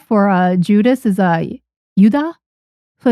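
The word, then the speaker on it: ユダ: So, it's uh just it's like y u da. It's like yuda. So, um, it's it's different. It's not Judas or Judas or, yeah, you don't pronounce the J or the S in Japanese for some reason.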